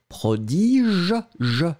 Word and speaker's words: prodige: A would be pronounced prodige, je, remember, je in the end, prodige, and then B, the one that we had, is prodigue.